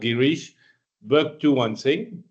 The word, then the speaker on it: Girish Bhaktuwan Singh: My name is pronounced Girish Bhaktuwan Singh. This is a British way of reading Bhaktavar Singh.